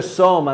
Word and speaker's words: soma: Si dice soma, non zoma, noi mettiamo la z, ma correttamente dite bene voi che è la S.